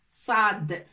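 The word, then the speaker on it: صاد: est bien cada et en la prononce comme ça saad saad assad cela produit qu'elle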